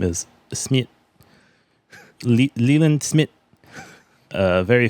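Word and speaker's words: Smythe: that's almost SMI right no no but it's pronounced Smith but they're just like them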